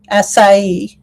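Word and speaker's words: açaí: Acai. That's how you pronounce that.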